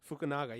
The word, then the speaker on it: Fukunaga: Yeah, and I believe Cary how do you pronounce it? Cary Fukunaga. Fukunaga, yeah.